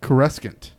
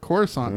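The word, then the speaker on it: Coruscant: you know what I always called it what caress 'can't and politics telling me I'm wrong someone to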